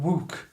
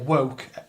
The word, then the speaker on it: Wouk: by a guy called Herman Wouk, or Wouk, W-O-U-K. And it's about... And she's mentioning why would he say stuff about Jews and things like that. Herman Wouk, I'm going to pronounce it like that, wrote The Caine